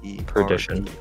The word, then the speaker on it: perdition: How do you spell it? P-R-D-I-T-I-O-N. Perdition.